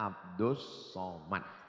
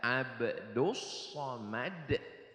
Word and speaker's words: Abdul Somad: Namanya Abdus Somad. Tulisannya Abdul Somad, tapi cara bacanya Abdus Somad.